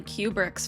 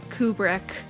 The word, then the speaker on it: Kubrick: because I've been going through all of Stanley Kubrick's films on the channel.